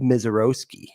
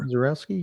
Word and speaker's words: Misiorowski: of teased out, Jacob Misiorowski. Misiorowski? Yeah. I've heard Roski on video, but maybe the minor pronunciation was a little off. I've always heard that with the Polish influences, Owski.